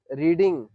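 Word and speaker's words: read: ध्यान से देख बेटा रीड रेड रेड pronunciation change होता है स्पेलिंग वही होती तो आई हैव रेड किसकी किसकी अंग्रेजी हो गई है?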